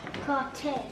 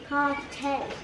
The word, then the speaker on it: Cartier: How you pronounce this? Cartier. Come here. Cartier.